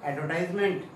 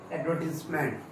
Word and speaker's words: advertisement: Let's start our new topic, that is क्या था आपने, एडवर्टाइजमेंट नहीं, it's right pronunciation is एडवर्टाइजमेंट, इट्स एडवर्टाइजमेंट, क्या कहेंगे इसे हम, एडवर्टाइजमेंट।